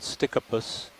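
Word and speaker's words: Stichopus: to a genus called stickypus if it's not in that genus itself so it's pronounced stick up as in s-t-i-c-k-u-p-u-s but it's spelled s-t-i-c-h-o-p-u-s so we have about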